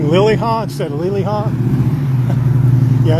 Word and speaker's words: Liliha: And I've said Liliha, not Liliha.